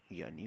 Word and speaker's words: wir: विया। wir. विया। Wear नहीं पढ़ा जाएगा इसको, क्यों?